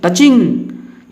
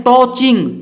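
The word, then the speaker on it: touching: जैसे यहाँ है नेक्स्ट टचिंग। इसको कुछ लोग पढ़ते हैं टॉचिंग। टॉचिंग नहीं पढ़ना है, इसका उच्चारण आ रहा है टचिंग।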